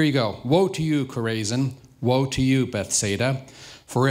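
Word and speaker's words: Chorazin: that chizo was biblical that's not chizo so you know it's actually I had to look it up it's pronounced corzin kind of like cisin but not really so here you go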